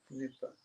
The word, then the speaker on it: Nripa: Yeah, Nipa. 2 syllables only.